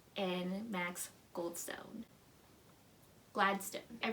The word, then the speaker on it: Gladstone: Amal El-Multair and Max Gladstone. I pronounced the first one right, but I pronounced the white sounding name wrong.